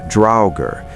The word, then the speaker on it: draugr: The draugr, pronounced draugr, appears across hundreds of